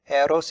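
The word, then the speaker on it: ἔρως: on it this time this one is a spirit it tells us to pronounce it eros it's the sweet spirit as opposed to this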